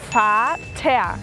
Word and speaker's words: Vater: Y el padre, Vater. La V como una F. Vater y la R al final como una A.